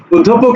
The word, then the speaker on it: অধ্যাপক: অধ্যাপক দেখো আচ্ছা শোনো অধ্যাপক শব্দের উচ্চারণ পোক হবে না আমি আবার বলছি অধ্যাপক উচ্চারণে পোক হবে না পোক হবে না শব্দটা হবে মূলত এরকম পক পক ঠিক আছে পোক না উচ্চারণ হবে পক হ্যাঁ মানে এরকম হবে পক পক অধ্যায় সরি অধ্যা পক ঠিক আছে তাহলে এই